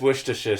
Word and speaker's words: Worcestershire: what's your sister sauce no one says Worcestershire sauce you just say what's the sauce because you're clever and no one attempted Worcestershire it's what's the what's the shift sauce not a Shire and anyone who says shyah shyah unless it's literally the shire it's it's pronounced sheer I offend myself what